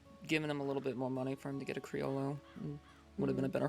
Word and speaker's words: Criollo: But if you ever talk about it around the third Charlie, he'll try to correct you saying the word Criollo and give you the Spanish Criollo pronunciation. or whatever.